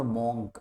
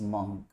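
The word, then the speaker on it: monk: इट इज नॉट मॉन्क ना, इट्स मंक, आई एम अ मंक, मंक इज the pronunciation, it's नॉट मॉन्क।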